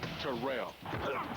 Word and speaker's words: Terrell: A member of the 2000yard club and it's pronounced Terrell.